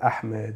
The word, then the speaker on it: Ahmed: The letter for ha doesn't exist in the English alphabet, so people will the way you pronounce it is fine because you didn't add a letter that doesn't exist. But sometimes people will add a kha, which also the letter exists in the Arabic alphabet, but it doesn't exist in the English alphabet.